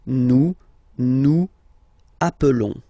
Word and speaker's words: nous appelons: Okay, nous appelons, and then little link would be perfect. So let's pronounce the whole thing again. Nous appelons. Nous appelons. Okay, final S doesn't exist. Nous appelons.